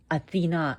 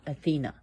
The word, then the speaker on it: Athena: Why do I say the name Athena and not Athena? In Greek, the goddess's name is pronounced Athena. Emphasis on the A.